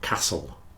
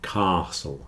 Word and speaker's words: castle: is with a long Castle sound whistle and listen you hear that in all of these the t is not pronounced especially in Words with a STL spelling Castle whistle listen Castle